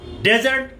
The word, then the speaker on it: desert: Desert, सहरा. Desert, किसी को छोड़ना, leave, abandon. First syllable, stress, desert. D-E-S-E-R-T. Barren land, sandy, सहरा. Desert. Desert, D-E-S-E-R-T. Stress on the second syllable.